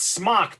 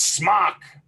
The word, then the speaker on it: Smok: It's not smoke, it's smock. Do you see an E in there?